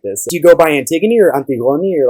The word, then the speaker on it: Antigone: a whole thing um i go by antigone in greek it's antiguani and i also speak french and in french it's anti-gun and i grew up in minnesota and most people here pronounce it anti-gone first time at least